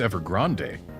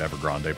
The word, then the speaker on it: Ever Grande: away or perhaps it's ever Grande so I don't like pronouncing it ever Grande personally because that's mixing two languages in its name and also Grande